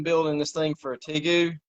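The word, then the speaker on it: tegu: this thing for a tigue t gu hey hope you pronounce it uh t-e-g-u there you go there you go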